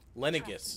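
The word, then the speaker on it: Lenegis: there's no way besides i'm from lenegas leningis is how it's pronounced wherever you were before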